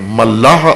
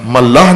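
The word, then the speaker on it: ملأ: ملاح اور ہے، ملاح کشتی چلانے والے کو کہتے ہیں. یہ ہے ملا، میم لام الف اوپر حمزہ، ملا. ملاح نہیں کہنا، ملا.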